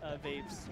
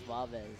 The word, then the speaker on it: Vavez: Is that Nut or is that Vaves? That was Nut. No, it's Vavez. Vavez. I thought it was Vaves.